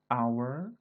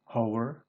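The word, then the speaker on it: hour: menggunakan n bukan menggunakan our ini cara badannya bukan Howard begitu tapi our Oleh karena itu dia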